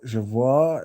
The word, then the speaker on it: Javois: Javois is pronounced like enjoy, by the way, Rich.